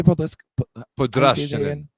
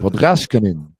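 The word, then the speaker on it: Podraščanin: How do you say Podrashkanin? It's like the Podrashkanin. Yeah, the S with the S and the C next to each other, both with the little upside down caret thing.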